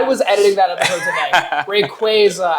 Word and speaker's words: Rayquaza: Rayquaza, as in Quasar.